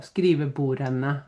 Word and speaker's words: skrivebordene: follows the rule so skrivebordene so just be careful so you don't pronounce the D there okay the desk.